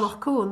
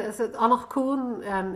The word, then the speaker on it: Anach Cuain: One of them was about the boating accident, and I hesitate to pronounce any of the Irish. Anach Cuain, is it?